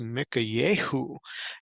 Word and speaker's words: Michayehu: the actual Hebrew you see his name is pronounced Mika Yahoo and so it is translated as Micah which